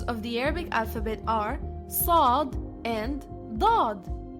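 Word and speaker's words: صاد: The next letters of the Arabic alphabet are Sad and Dad. Sad sounds like the letter S, but it has more of a whistle. Dad sounds like the letter D, but much thicker and deeper sounding. Sad and Dad look very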